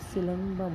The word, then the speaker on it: सिलम्बम: ये एन नहीं आएगा यहाँ पे, ये सिलम्बम है, सिलम्बम। ओके, प्रोनाउंसिएशन पे फोकस करना है आपको। सिलम्बम, एम आएगा यहाँ पे।